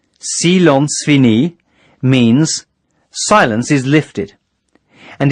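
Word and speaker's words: Silence fini: cease all transmissions immediately Salons fini pronounced sealants fini means silence is lifted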